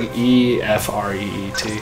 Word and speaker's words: Ifrit: This is I like E E. Yeah. I don't know. I think it's like Ifreet.